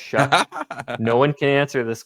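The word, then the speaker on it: Shough: And then in the second round, they come back and they take the quarterback, Tyler Shuck, I still don't know why it's pronounced Shuck.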